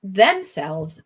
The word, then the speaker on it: themselves: Okay, so not themselves, but themselves. Themselves. Yeah. Good. We're going to we are putting pressure on the last word. The last part. syllable. Yes, quite right. Last syllable. Yeah. Good, good. Yeah, we would say the word stress is on the second syllable.